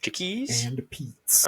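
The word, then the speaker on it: Chickie's and Pete's: I I used to say it wrong I've tried to once I figured it out say it right chickies chickies and pets all right both them with ses Jay have you ever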